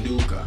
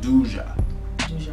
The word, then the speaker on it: Duqa: It's not even duka. It's duja.